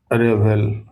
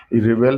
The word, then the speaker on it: revel: Next word है रेवेल। Spelling देखिएगा इसका REVEL है, रिवेल नहीं है, रेवेल है।